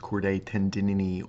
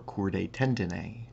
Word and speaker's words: chordae tendineae: also sometimes pronounced chordae tendinini or chordae tendine these are the rope-like